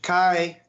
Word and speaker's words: Chi: Oh, I'm going with the Greek. That's where it comes from. Is Chi. That's why I chuckled a little bit when Pete said Chi, and Matt's corrected him every single time this has come up.